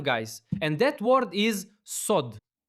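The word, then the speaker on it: סוד: And that word is sod. S O D. So you can read it easily. Sod. That's how you pronounce secret.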